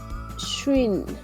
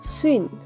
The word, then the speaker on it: 쉰: Se le dice 쉰. O por ejemplo cuando ustedes cantan alguna canción de salsa o merengue que dicen el swing, ¿sí? Acá lo decimos como swing. Y es una sola sílaba.